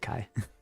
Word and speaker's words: Kai: I also pronounced my model on my name wrong. It's Kai.